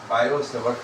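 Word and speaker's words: Biot–Savart: बायोसेवर्ट लॉ लिखा जाता है बी आई ओ टी मगर टी साइलेंट है। बायोसेवर्ट लॉ बोला जाता है।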